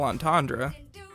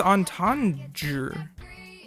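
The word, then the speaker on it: entendre: It's not It's not an Eric Andre and it's not a double antandra. Antandra. Antandre. What is the word? I'm It's entander.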